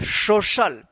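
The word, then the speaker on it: social: तो इसको क्या पढ़ेंगे, सोशल, क्या पढ़ेंगे, सोशल। यहां पे सी का श उच्चारण होगा, तालव्य श, तो देखिए पे सोशल हो गया।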